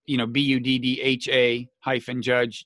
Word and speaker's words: Buttigieg: Yeah, today Matt Lewis tweeted, I'm going to go with Buddha, Buddha -Judge, JUDGE. I replied, but Matt, Buddhas don't judge.